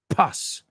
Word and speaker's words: pus: blister or you're going to get pus everywhere pus you say puss so sounds kind of similar give out right but it's not pronounced exactly the same if you say we